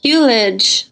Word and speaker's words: Hulej: And can you remind us how you pronounce your last name? Hulej. Hulej.